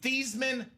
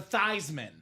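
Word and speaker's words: Theismann: to change the name the pronunciation of your last name from thesman to thyman that start a campaign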